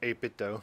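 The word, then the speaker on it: 8BitDo: Is that how you pronounce it? 8-bit do. Or 8-bit dough, like 8-bit Nintendo.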